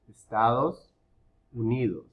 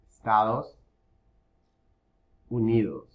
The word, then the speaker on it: Estados Unidos: when the letter v is in the middle of a word the sound of the letter d is very soft it's like it's not even there i know in english we were taught to pronounce it strongly right duh and in spanish you barely pronounce it very soft estados unidos estados unidos